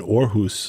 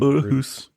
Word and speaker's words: Aarhus: talking to him about when he was in Aarhus, the orchestra in Denmark. That was a beautiful pronunciation. Well, you know, I am Scandinavian. In Aarhus. Aarhus.